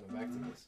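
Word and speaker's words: Gnomacticus: Yeah, the G is silent. I keep forgetting. Yeah, it's just Gnome, Nomacticus.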